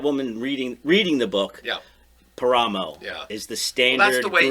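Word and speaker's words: Páramo: There's the A accent on the A on the cover. And where's the accent? Up here. Paramo.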